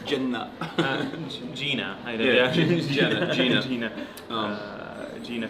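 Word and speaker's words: Jena: I think Gina. Yeah, but you say it like it's a facility. You say it in like almost Arabic. You say Jenna.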